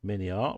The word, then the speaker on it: Miniart: As Jim said, Miniart rhymes with lots of parts.